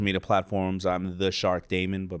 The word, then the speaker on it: Daymond: I'm The Shark Daymond, but my name is spelled like Raymond, but with a D.